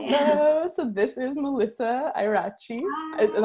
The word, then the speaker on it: Ieraci: So this is Melissa Ieraci. Is that how I pronounce it? Hi, everyone. Yes. I don't know. I'm always pronouncing the Italian names wrong, even though. Yes, it's Ieraci.